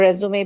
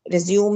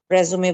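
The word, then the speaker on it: résumé: एस यू एम ई लेकिन रिज्यूम नहीं पढ़ते। इसका प्रोनाउंसिएशन है रे्यूुे। तो ये आपको पता होना चाहिए। ठीक है? अ इसको मतलब मिस प्रोनाउंस नहीं करना आपने। रिज्यूम नहीं बोलना है इसको रेजुमे बोलना है तो अब सीवी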